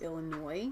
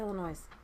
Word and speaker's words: Illinois: keep developing those overseas it is pronounced Illinois what is this Thailand a lot of people say all the noise but that's cuz it's how it is forty-five year old man